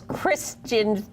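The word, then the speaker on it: Kirstjen: that was Stephen Colbert your name is Christian Nielsen with a silent J yeah very cute and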